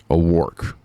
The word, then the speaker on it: O'Rourke: So Kim Paxton just put Beto O'Rourke. Thank y'all for telling me how to say his name. Y'all, it was real easy to remember. Y'all said it rhymes with dork.